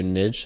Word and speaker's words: niche: um everybody has their Niche and everybody has their gift nich nich that's it that's how you say it Niche I thought it was Niche no it's niche oh Niche okay well I